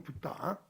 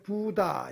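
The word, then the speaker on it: बुद्ध: 원래 발음은 붙다. 이게 부다 이렇게 산석 부다죠.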